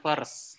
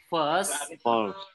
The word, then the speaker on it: first: Jadi ini cara bacanya first ya, bukan first. Jadi first. Enggak dibaca i-nya, enggak dibaca r-nya. Jadinya first.